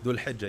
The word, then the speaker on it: Dhul Hijjah: There were strikes at the pronunciation. How do you say Dhul Hilal? Dhul Hijjah, yeah.